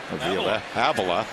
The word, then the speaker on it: Avila: Of course, he is the son of the Tigers vice president, assistant general manager Al Avila. His son pronounces his name Avila.